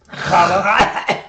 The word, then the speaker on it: challah: Challah. There, you're close. More with the diaphragm. You gotta, if you say challah right and you're pregnant, you should cough up the baby. That's how you know you're saying it right.